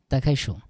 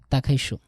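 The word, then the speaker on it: 打开书: তাকাইশো। তা চাইনিজের ডি এর উচ্চারণটা এমনভাবে করবেন যাতে ত এর মতো মনে হয়, ঠিক আছে? তাকাইশো।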